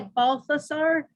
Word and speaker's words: Balthazar: some may say a balthasar i always tend to say it balthazar because in spanish in the original it's just a t and not a th so i'm i'm i'm